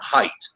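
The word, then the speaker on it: Haidt: wonderful book that Jonathan hight it's spelled like hate but it's pronounced hight wrote several years ago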